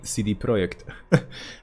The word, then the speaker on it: CD Projekt: launched cd projekt uh or should i say cd projekt this is the polish way of pronouncing this but yeah the company